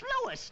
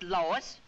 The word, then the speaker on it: Louis: the plant Lois Lois my name is Lewis not Lois Chief whiz everybody in toy believes me name wrong it's Louis l o u i